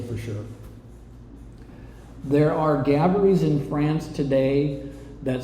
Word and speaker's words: Gaboury: IT at the end, which is pronounced Gabaree in a French tone, the same way the Gabree with the Y is pronounced.